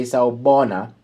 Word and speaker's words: sawubona: So remove R and say sawubona.